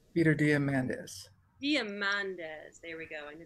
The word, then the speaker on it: Diamandis: diamond do you how do you say that diamond niece peter diamandis there we go i knew there was a